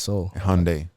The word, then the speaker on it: Seoul: see it's like s-e-o-u-l yeah that's yeah it's pronounced as so Hyundai hongdae yeah that's like capital of like